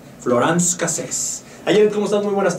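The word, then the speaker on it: Florence Cassez: Voy a pronunciar como los franceses. Florence Cassés.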